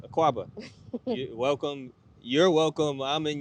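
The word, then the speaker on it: Akwaaba: So Aquaba.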